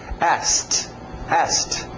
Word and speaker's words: asked: Ok e em parênteses eu coloquei a pronúncia mais comum ainda sem o k asked as ninguém vai perceber que o cas está faltando agora observem que é